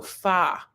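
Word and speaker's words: pho: I'm saying it right it looks like faux but it's not faux it's far anyway it's like these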